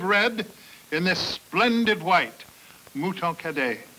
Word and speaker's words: Mouton Cadet: Mouton Cadet. It rhymes with hooray.